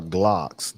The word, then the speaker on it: Glock: had um we had g locks he meant that he was trying to say glock he pronounced it g-locks oh i got g-locks